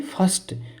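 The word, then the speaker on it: first: फर्स्ट तो यहां पर फिस्ट नहीं बोलेंगे फिस्ट नहीं बोलेंगे यहां बोलेंगे फर्स्ट तो यहां पर जो आई आया है इसका उच्चारण क्या कर रहे हैं हम ए कर रहे हैं।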